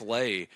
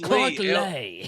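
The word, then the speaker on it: Lea: Why' you say his name like that? It's Clark Lee. I always say that. I always mess it up because it's it's L EA.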